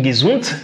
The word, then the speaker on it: gesund: Tu vois que ici, on a D à la fin de gesund, mais on prononce ça T.